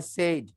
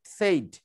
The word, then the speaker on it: said: জায়গার পড়ছো the teacher সেড। নো, স্কুলের টিচাররা সেডই শেখাবে বেশিরভাগ ক্ষেত্রে, বেশিরভাগ স্কুলে শেখাবে সেড। No, this is সেড। সেড, সেড, এই যে সত্য আমাদের আফসার উচ্চারণ করেছে সেড, নট সেইড, হি সেড।